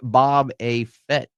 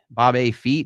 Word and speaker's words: Boba Fett: And he got dethroned by Bob A. Fett. Bob A. Feet, is that how you say his name? Boba Fett.